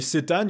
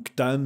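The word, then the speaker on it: C'tan: Les Cétanes, il y en a plein, les Cétanes ou Ctan ou Cétan ou Ctan, comme vous voulez. Hein, le nom de ma chaîne ne marche en blague que si vous prononcez Ctan.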